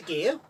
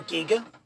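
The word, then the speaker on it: Gigha: from corella we went to gear or Giga depending how you pronounce it depends who you talk to and one thing about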